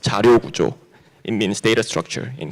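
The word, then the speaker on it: 자료구조: It's pronounced Jaryo Gujo.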